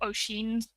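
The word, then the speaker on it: Oisín: And then also you've got Glencoe and Ossian's, or Oisin's, maybe, if you're going to pronounce it, because that's how it's pronounced in the Irish.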